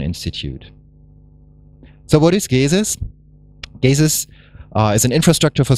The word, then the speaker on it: GESIS: so what is gazes gazes uh is an infrastructure for social sciences if you pronounce it English it's like Jesus we have small buttons